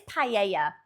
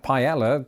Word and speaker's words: paella: So yeah, you don't pronounce the double L because it's pronounced a Y. So it is paella like it would be in Spain. That makes sense. British offering of pella isn't.